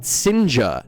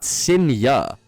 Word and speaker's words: Sinja: Like, his name is pronounced Sinja, not Sinya.